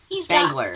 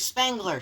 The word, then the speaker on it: Spengler: Spangler. There's Spengler. Jesus, I You always always say mispronounce his name. You always say Slangler.